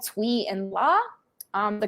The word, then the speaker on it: Tui: ocean and in the show they are called tui and la um the correct pronunciation would be tui which means to push and pull and we